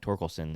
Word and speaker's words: Torkelson: green and toricles and i think torkelson is how you say his last name he's gonna